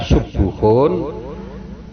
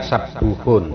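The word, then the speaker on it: سبوح: Artinya ya, sabuhun atau subuhun boleh dibaca subuhun, boleh dibaca sabuhun, sama ya.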